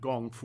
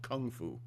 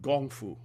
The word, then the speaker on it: gong fu: I'm pronouncing it gong fu, which is the Chinese pronunciation and the United States would call it kung fu. It's gong fu.